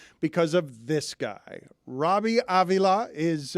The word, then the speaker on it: Avila: Robbie Avila is, I pronounced that with a Latin flourish.